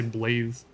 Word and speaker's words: Blaidd: i'm kind of wondering why his name is pronounced blade when it's not spelled that way at all i would have assumed it was pronounced blade every time any npc talks about him they say blaith oh hi just killed